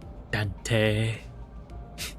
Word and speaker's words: Dante: Ambrose, will you say Dante with a long E at the end? Okay, I'll try. When he says it, right? Dante.